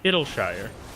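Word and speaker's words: Idyllshire: And so I think we can all appreciate that today's lesson is Idleshire, which is pronounced Idleshire, and not any other way. You say Idleshire. Yeah, there you go. It's just a sure instead of Shire.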